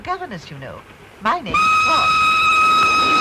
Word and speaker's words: Froy: My name's Froy. You said Froy? No, not indeed. Froy. Sorry, I can't hear. It rhymes with joy.